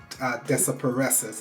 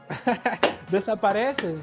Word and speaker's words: Desapareces: Well, let's talk about your single, Desapareces, if I Oh pronounce yeah. that correct. Bien, bien, bien. Oh, yeah. Desapareces, yeah.